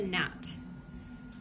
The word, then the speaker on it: gnat: Number one was a picture of a gnat. They believe that gnat is spelled G-N-A-T.